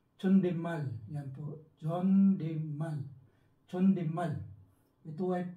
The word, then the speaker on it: 존댓말: Ang pangalawa po ay Chondetmal. Pag tayo po yung nag-pronounce niyan. Pero kapag sila po, Chondemal.